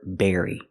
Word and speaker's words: berry: almost sound the same the B makes a close sound bbbb Berry and the V makes a vibration sound very but the rest of the word is exactly the same Berry very so let's